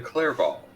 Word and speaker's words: Clairval: I am Clairval of House Goldenleaf. Nice. Spell it.